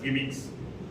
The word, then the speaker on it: gimmicks: Sometimes inadvertently we use it with the singular one of friend that is not right and someone used Jimmy it should be pronounced as gimmicks.